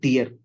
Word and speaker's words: tier: be read as a tier n tier okay not tired right it should not be pronounced as tired it should be pronounced as tier right so in that